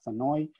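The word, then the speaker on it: Senoy: So we have here a way, a key to pronounce them as Sanoi, San Sanoi, Semangalaf, and Semengalon.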